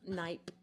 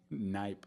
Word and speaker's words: Knipe: And then your last name is pronounced Knip. Knip. Okay. Got Knight with a P. Yeah. So like Knife, right? With the silent K.